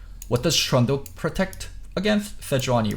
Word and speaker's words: Sejuani: Okay, so also why I say Seju is, in Korean, Sejuani is 4 syllables, Sejuani, and we shorten it to Seju.